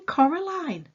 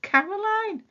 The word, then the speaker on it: Coraline: wrong you know they kept saying coraline not caroline not caroline at all he picked up a